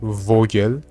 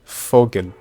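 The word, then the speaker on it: Vogel: So there is the article which is masculine and it it's not vog it's fog.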